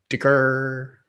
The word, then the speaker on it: DCR: Dicker. DCR, that's how you say it.